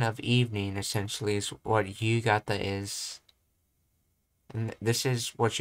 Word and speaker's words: 夕方: この辺りは昼間、この辺りは昼間は人が多いですが、夜静かです。something, let's see, 強い雨が降るそうです。強い。I know one pronunciation of this is ho, but I think this is another pronunciation here. 夕方から強い雨が降るそうです。 That's right, gata's the other one, yes. Yugata.